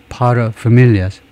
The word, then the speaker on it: paterfamilias: 상대방이 paterfamilias. paterfamilias. pater 앞에다 첫 번째 음절에다 secondary 액센트를 주고 paterfamilias, 밀 이쪽에다가 그 primary 제1의 액센트를 주고요.